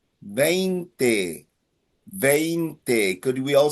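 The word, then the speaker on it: veinte: For number 20, you have three vowels. You have A, E, A. A, E, A. It ends in a vowel. So the emphasis is on the second last syllable.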